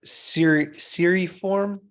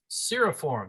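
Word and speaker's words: cirriform: wispy appearance are it's Siri form seriform yeah clear form yeah it's not a long e that middle uh vowel there uh JT you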